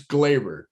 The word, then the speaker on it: Gleyber: It's Glaber. Like Labor Day, Like Labor Day. Glaber.